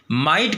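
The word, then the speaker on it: mightn't: माइट plus not में माइट का जो माइट में जो टी है वो क्या हो जाएगा? साइलेंट हो जाता, माइंट।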